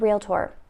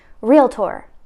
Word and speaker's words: Realtor: to pronounce the word realtor. Now, in that same vein, let's look at this over here. Just two notes, right? Realtor, Realtor.